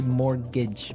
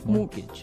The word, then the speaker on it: mortgage: Yeah, it has a t in it, but you don't pronounce it. You say mortgage, mortgage.